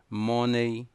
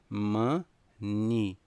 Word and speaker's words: money: Existem três pronúncias. Duas erradas, versão brasileira, e uma única correta, ok? As erradas, money, errado. O correto é dizer money.